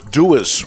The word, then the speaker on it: Dewar's: Well, we have the winner of our taffy competition that we did, and it was Dewar's, right? Dewars. Well, how would you pronounce that?